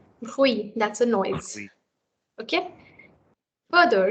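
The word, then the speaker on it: huit: Then this here is T silent. What should it be pronounced? Hui.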